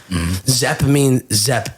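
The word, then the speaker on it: Szep: Zepp is spelled S-Z-E-P, I believe. It means beautiful in Hungarian.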